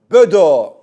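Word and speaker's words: Bodø: Böd böd glimt. Sen bodo de ya. Böd bö yakışmıyor. Öyle mi? Bodo mu diye tamam. Bodoglimpt bödö ama normalde y gerçeğini bilin doğrusu böd diye okunuyor.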